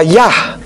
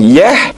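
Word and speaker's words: יה: Adam Im yosfei Kadel perhatikan lagi huruf Yod dan he di situ terbaca yah bukan Yeh bukan Yuh bukan yih dan bukan Yoh huruf wau he dibaca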